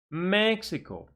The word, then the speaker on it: Mexico: And now, 3 syllable words. Stress on the first syllable. Please repeat. Canada. Canada. Mexico.